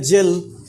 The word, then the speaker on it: gel: जब पेस्ट लेते हैं तो लिखते हैं या जेल, तो क्या बोलते हैं उसको, एक गेल है मगर इसको बोलते हैं जेल।